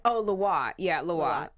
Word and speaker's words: Lwa: Oh, Loa. Yeah, Loa. That's how you pronounce it? Yeah, Loa? Loa. LWA. Is that French or something? Or yes, Creole? it is French.